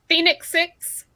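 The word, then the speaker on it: Fenix: And the Garmin, am I pronouncing it correct? Phoenix 6? Phoenix 6.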